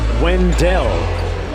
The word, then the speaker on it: Wendell: It's pronounced Wendell.